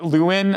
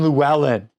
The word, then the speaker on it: Llewelyn: this podcast I I luin or something I don't know I don't remember what I said I said something you're like that's not how you say his name it's Desmond lellan get it right Desmond lellan who we